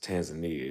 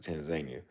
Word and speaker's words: Tanzania: It's actually not pronounced Tanzania. If you talk to people from Tanzania, they pronounce it Tanzania.